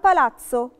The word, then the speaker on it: palazzo: بس qualche volta si pronuncia ts come ragazzo palazzo. يعني ايه؟ أوقات بننطقها تس زي كلمة راجاتسو اللي هو شاب، أو بالاتسو اللي هو قصر.